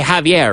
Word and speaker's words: Xavier: Do you still say Javier, right? It's pronounced the same with the X.